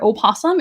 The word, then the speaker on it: opossum: possums opossums excuse me by the way the word opossum is how you pronounce this species they are an opossum